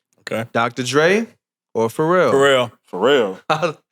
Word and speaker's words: Pharrell: Pharrell. I don't even think I pronounced the last L in Pharrell.